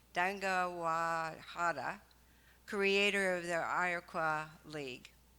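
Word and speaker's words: Deganawida: democracy with the peacemaker Dagawai. Let me say it right, I did it at first service. Dangawahada, creator of the Iroquois League.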